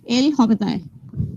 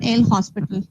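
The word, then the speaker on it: L'Hôpital: will apply this and how you will pronounce it l hob not l hospital okay so first thing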